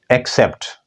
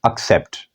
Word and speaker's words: accept: Look, mostly we people pronounce it accept, but it is not accept. It is accept.